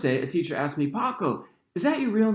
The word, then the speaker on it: Paco: a teacher asked me paco is that your real name he pronounced it peco for the rest of the semester despite my correction maybe because it always